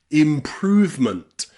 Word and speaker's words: improvement: So in words like movement, movement, and improvement, that E in the middle is completely silent.